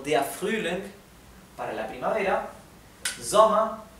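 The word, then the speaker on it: Sommer: que terminan con er la r final también es casi imperceptible y la e tiende a sonar un poco más parecido a una a por ejemplo soma soma venta venta bien y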